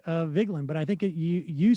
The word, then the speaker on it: Vigeland: That's the way I pronounce it. Right. Vigeland. It's Vigeland.